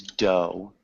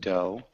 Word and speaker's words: dough: It's dough. Dog, Can you repeat dough? dog. Yeah, so it sounds just like dough. So no GH sound, just dough.